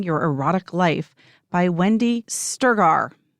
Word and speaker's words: Strgar: And the 4th book is Sex That Works, An Intimate Guide to Awakening Your Erotic Life by Wendy Sturgar. That's how I think we pronounce it, Strgar.